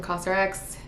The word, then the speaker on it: COSRX: PH Gel Cleanser from cosrx I think that's how it's pronounced actually let me look it up how is cosrx pronounced let's see cos RX okay I was kind of close but yes pick this